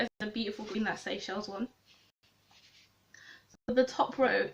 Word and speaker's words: Seychelles: Do you know how many people I've seen who can't pronounce Seychelles? Someone pronounced it seashells, which isn't too bad, but still like, have you not heard of these words before?